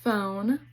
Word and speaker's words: phone: F also has PH, which says F, like in phone.